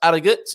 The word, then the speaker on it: Harrogate: Tailors of Harrogate, you don't pronounce, just like the Portuguese, actually, you do not pronounce your H's in Yorkshire. So that's Harrogate, in case Paul Richards is watching this morning.